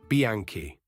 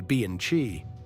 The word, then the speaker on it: Bianchi: Bianchi. Now here everybody trips. You almost certainly say Bianchi. The right way is Bianchi. In Italian, chi is read as a K, always.